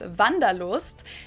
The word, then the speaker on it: Wanderlust: This is kind of an old-fashioned German word that we pronounce Wanderlust, and it's literally the desire to wander, so it means you want to travel.